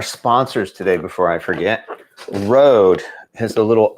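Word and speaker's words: Røde: play on the word rodent. That's what I heard. So they decided we're going to go with the O thing, which would be pronounced Rode.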